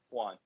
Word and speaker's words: Joan: So Barcelona won 3-1, and Juan Gamper, or Joan, I don't think it's pronounced Joan, right? It's Juan Gamper. Juan.